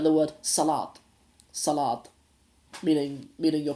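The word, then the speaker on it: salaad: spelled with a d Salat but sometimes pronounced sort of a little bit of a t sort of sound at the end so that that that's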